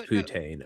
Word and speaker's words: poutine: It's Yeah, it's poutine.